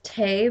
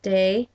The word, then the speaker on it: Te: a second book called it looks like it says tay but it's pronounced day of piglet i can